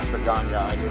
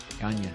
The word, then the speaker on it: Gagne: The G's, it's pronounced like a N-Y-A. G-A-G-N-E, right? Yeah. Yeah, that's the Ganya.